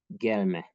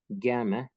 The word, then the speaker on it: gelme: see a Turkish example, gelme. If we stress the second syllable, then it will be a second person prohibitive, don't come, and gelme will be a noun of action, coming.